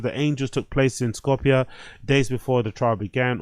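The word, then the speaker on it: Skopje: Outrage after the fire prompted protest in Macedonia capital or Scopchki or Scopki, however you pronounce it.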